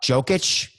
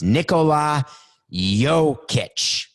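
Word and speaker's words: Jokić: watch it right now nicole um jokic i get i'm so sorry coco did i have it right in any case he uh it's nick coke is trying to spell it out for me he's trying to say it for me he can't say it i can't hear it it's nicola yo kitsch he hit a shot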